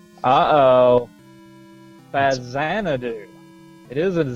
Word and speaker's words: Faxanadu: it's pronounced uh oh fazan do it is a z it is the x is pronounced like a z because it was a